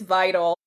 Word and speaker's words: Vidal: It's vital.